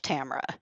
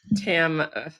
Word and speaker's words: Tamra: 99.9% of I call myself Tamara. So, Oh, there you it's like go. Well, it's then just like that silent middle syllable. Tamara.